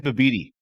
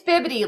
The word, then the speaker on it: bibidi: So, I've been saying Bibidi. Oh, yeah. Okay. Yeah. No, that's cute. It's bibbidi. Like bibbidity bobbidity boo.